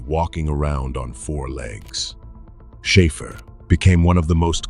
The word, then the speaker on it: Schäfer: That A is a sound English does not carry, somewhere between the A in care and the E in bed.